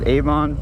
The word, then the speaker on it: Avon: I'm now in Avon, I believe is how it's pronounced. Avon.